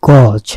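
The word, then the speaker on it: gauge: কেনা, সেটাকে আমরা বলি গজ। আর যেটা দিয়ে আমরা মাপি ফিতার মতো, সেটাকে কিন্তু গজ বলে অনেকে, ভাই গজটা দেন মাপি, এটা কিন্তু গজ না, এটা হচ্ছে গেজ। উচ্চারণটা গেজ, খেয়াল করবেন।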